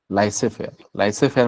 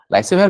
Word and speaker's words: laissez-faire: some concept called as laissez-faire माने कौन here the z is silent okay laissez-faire जेमिति पढ्छ